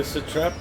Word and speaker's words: satrap: We are assisting the satrap. You gotta roll your R on that one.